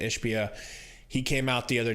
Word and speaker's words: Ishbia: Matt Ishbia, that's how you say it, Ishbia, he came out the